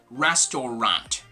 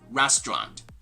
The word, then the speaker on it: restaurant: try to pronounce it there's gonna be some silent ladders in there actually it's gonna be some sort of like a silent syllable so this is not going to be restaurant but rather restaurant okay restaurant can you